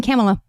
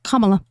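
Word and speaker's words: Kamala: I was saying Camela. It's Kamla.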